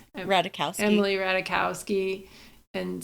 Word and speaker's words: Ratajkowski: Brad Pitt being with Emily how do you pronounce her name? Ratajkowski.